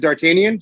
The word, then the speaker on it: Dartanyan: did i say his name right is it dartanian is that right yeah yeah you hear me